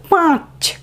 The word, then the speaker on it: পাঁচ: তারপরে দেখো পয়ে চন্দ্রবিন্দু আকার চ, উচ্চারণটা হবে পাঁচ। পয়ের উচ্চারণ নাসিক্য, পাঁচ একটি সংখ্যা, এক অঙ্কের একটি সংখ্যা, পাঁচ, পাঁচ, ঠিক আছে? পাঁচ এরকম নয় কিন্তু পাঁচ। চয়ের ক্ষেত্রে কোনো নাসিক্য উচ্চারণ হবে না।